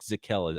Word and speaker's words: Zakelj: difficult than it is nick zekela i believe is how you pronounce it there's a j in there for some odd reason out of fordham and